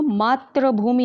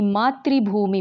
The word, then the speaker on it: मातृभूमि: गर्व है देखिए बच्चों मात्रभूमि नहीं बोलेंगे मात्रभूमि ठीक है हिंदी में उच्चारण जैसा होता है वर्तनी भी वैसी ही होती है कवि को अपनी मातृभूमि पर गर्व है क्योंकि